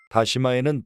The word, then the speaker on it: 다시마: 다시다가 아니고 다시마이니 발음 유의해서 들어주세요. 다시마에는 베타카로틴, 비타민 A, 비타민 C, 식이섬유, 칼륨 등이 매우 풍부하게 들어 있습니다.